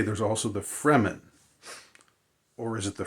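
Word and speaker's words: Fremen: F re m-- n so it's sort of like free men but but they're the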